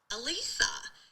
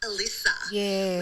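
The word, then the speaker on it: Elisa: Uh but also my call funnily enough is about pronunciation. Um because my actual name is Alisa much like in the episode Alisa Lamb.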